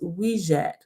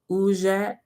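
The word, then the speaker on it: wedjat: the eye of heru may be pronounced as wijat ujjat or uchat meaning the whole or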